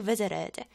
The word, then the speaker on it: visited: 미국에서는 T가 약간 R처럼 이렇게 굴려서 좀 부드럽게 연음이 되거든요. 그래서 I visited, visited, visited 이런 식으로 많이 써요.